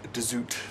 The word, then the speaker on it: de Zoet: female midwife, and Jacob de Zoet, if that's how you pronounce him. The Dutch might go for de Zoet.